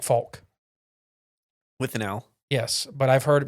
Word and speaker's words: Fouke: an L in it no the people there pronounce it like Fulk with yes but I've heard most the time on TV it's like FAL just must be their accent or something I